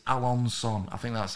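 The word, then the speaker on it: Alençon: and now this bit alan's son is it alonsom is it it's not alan khan i think it's alonson i think that's how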